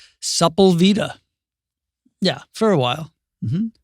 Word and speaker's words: Sepulveda: not of the town, but you were the first person I ever knew who pronounced it Supplavita. Sepulveda.